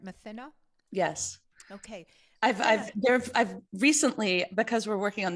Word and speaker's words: Mathina: on the film adaptation, we've been working with an Indigenous expert who pronounces it a little differently, Matina, I believe, but I had always heard it pronounced that way. So for the moment, I'm going to continue calling it Mathina.